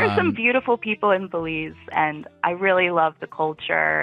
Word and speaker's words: Belizean: That's probably not how you say it. Belizean. Belize is a city, Belizean. Right? It's Belizean? It sounds made up. I feel like I made that up. Yeah, Belizean. No, you got it.